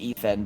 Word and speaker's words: ETH8N: Okay, so I'm assuming pronounced Ethan, but okay, Ethan.